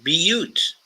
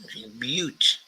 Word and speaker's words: Butte: So Neshoba Chomak Shuti says, pronounced Butte. Butte.